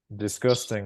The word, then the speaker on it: disgusting: problem disgusting thank you the u sounds are it's not you it's up first yeah because they could read it this boosting or did you stick like like a unicorn yeah okay but identify the stress how many syllables does it have and where does the stress go three three that's right okay where does the stress go the first no the second one second syllable yeah uh if we